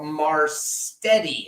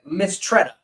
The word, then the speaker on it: Mistretta: But we had Sturdy Sal Marstetti, I believe is how you say his last name. I got it right here. Yeah, Mistretta. I'm sorry.